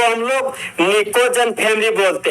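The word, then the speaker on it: pnictogen: नाम है आपका दोस्त निकोजन फैमिली। निकोजन फैमिली, जहां पर निकोजन का जो दोस्त आपका फर्स्ट लेटर जो आपका पी है वह आपका साइलेंट होता है।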